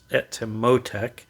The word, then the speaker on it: Etymotic: avoid saying it but i believe it's it to motec a little accent on the o i apologize if that